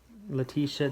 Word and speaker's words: Letitia: Letitia, to me, the A is silent.